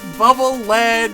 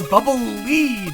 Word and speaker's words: Bubble Lead: true it's true because everybody pronounces it bubble lead and i'm like no it's not bubble lead it's bubble lead because it's supposed to lead you you left your childhood